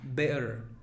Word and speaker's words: bear: Es B y luego una schwa. Bear, bear, bear, bear, bear.